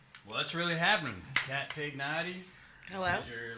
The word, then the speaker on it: Pignati: Well, the last name is Pignati. It's pronounced Pignati, but...